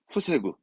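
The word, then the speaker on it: 防ぐ: 제자 발음은 태로 가서 태보. 뚝은 태보, 태보 합니다. 이게 동사로는 뒤에 구가 나오면서 후세구.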